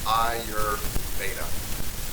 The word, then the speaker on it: Ayurveda: It's pronounced Ayurveda, or Ayurvedic massage.